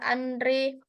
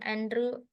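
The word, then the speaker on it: André: Lalu, selanjutnya, ada Andre Mary Ampere. Nah, sebenarnya ini kan bacanya Andrew Mary Ampere.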